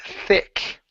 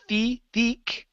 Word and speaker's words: thick: okay let's go to the word thick instead of feek okay give me a